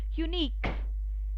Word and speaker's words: unique: Alright, and again I would like to show you where Q, U, E they come together, again it is pronounced as k. For example, it's unique, then it's technique.